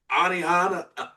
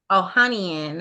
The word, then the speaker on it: Ohanian: Well, Alexis, Anihana, Anihana, I'm not sure how to pronounce it. That's Serena Williams husband what is it? Ohian. Ohian.